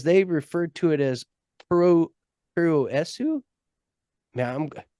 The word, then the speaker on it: Puroresu: The actual introduction of Japanese pro wrestling, or as they referred to it as Puroresu. Now, it's Puroresu for those people who can actually pronounce words.